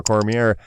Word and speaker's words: Cormier: Well, that sounds like it was a good fight for Daniel Cormier, who is cementing his reputation as the best pound-for-pound fighter in the UFC. The R is silent, by the way. Cormier. It's French.